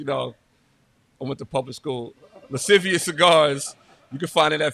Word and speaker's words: Lascivious Cigars: Lascivious Cigars.